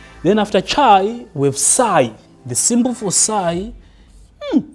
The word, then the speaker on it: psi: So, you read this as psi psi psi p s i.